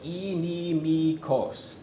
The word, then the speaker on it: inimicos: Yeah, and that third word has 4 syllables. Inimikos.